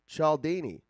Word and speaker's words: Cialdini: persuasion by robert b chaldini he says his name a few times in the audiobook and i believe he calls it uh he pronounces his last name chaldini but it's spelt c-i-a-l-d-i-n-i very italian right and then when